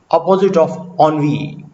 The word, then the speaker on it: ennui: Jahadaviv is precisely the opposite of ennui. Ennui. This is also a word of French origin, but is easily pronounced as ennui.